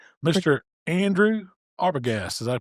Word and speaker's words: Arbogast: Andrew Arbagast. Did I pronounce that right?